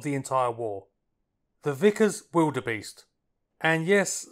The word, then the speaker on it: Vildebeest: The Vickers Vildebeest. And yes, that's pronounced with a W, apparently the V was a spelling error.